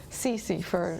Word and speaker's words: Cece: How do you pronounce it? Cece or? Cece for Celeste.